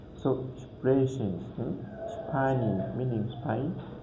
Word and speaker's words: sprechen: And we are going also to find S P in a word, so it will be like pronounced like ship. Ship. So, sprechen, spinnen, meaning spin, like that.